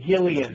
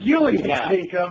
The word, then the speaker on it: Gillian Jacobs: Julia Jacobs, but apparently her name is pronounced Gillian. Gillian Jacobs.